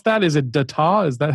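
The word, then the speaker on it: Dataw: Is it Detaw? Is that how it's pronounced? Data.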